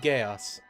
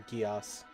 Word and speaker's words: Geass: No, it's actually the embodiment of the God of Intelligence, which ironically looks like Lelouch from Code Geass, or Geass, depending on how you want to pronounce it.